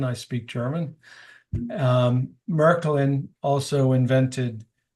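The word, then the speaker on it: Märklin: uh 125 years old it was introduced by Merkin that's the cor correct pronunciation I speak German um merklin also invented H gauge and they invented engage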